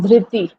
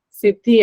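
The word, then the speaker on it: Dhriti: D ma'am DTI yes not Sidi I think you uh Sai you pronounce like Sidi I think am I correct mam d d h r i t e i yes DTI that one okay yes ma'am okay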